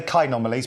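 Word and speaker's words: Chaenomeles: try and say well shomali some people say some people say kalies but I've always pronounce it as shomali or the common name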